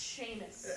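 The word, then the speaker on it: Seamus: how you name things it's pronounced Sheamus nopeus Fus why because it rhymes with Cletus no it doesn't but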